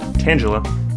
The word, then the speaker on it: Tangela: lately, those names being Paris, Abra, Onyx, Tangela, pronounced Tangela, and Eevee.